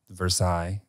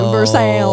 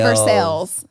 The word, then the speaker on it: Versailles: As in Versailles. But they pronounce it Versailles. I would say Versailles.